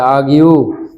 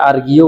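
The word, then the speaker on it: argue: তাহলে চমৎকারভাবে বলা যাচ্ছে আগিউ তর্ক করা আগিউ কেন বললাম আর এর পরে জি আছে জি থাকলে আর এর উচ্চারণ হয় না তাহলে আগিউ তর্ক করা অনেকে এটাকে আর্গিও বলে আর্গিউ বললে জিনিসটা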